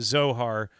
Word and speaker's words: Zohar: And I would say I'd throw in the Zora too. Is that I'm saying it right? Yeah, we did a show or two on Kabbalistic Zohar.